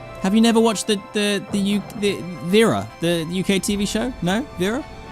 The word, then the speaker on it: Viera: Is it actually pronounced Viera? Because that's gonna be my best attempt I'm gonna give you. V-era, not Vi-era.